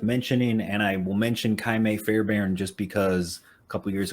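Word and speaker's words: Ka'imi Fairbairn: The defense isn't worth mentioning, and I will mention Kaime Fairbairn just because a couple years ago I took the time to learn the name Kaime Fairbairn, so I just like to just put it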